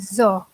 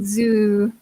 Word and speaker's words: zoo: A yeah I think the pronunciation of zoo is quite difficult and would tend to pronounce it as a saw yeah it should but it actually zoo boo sound yeah Kenya perfect a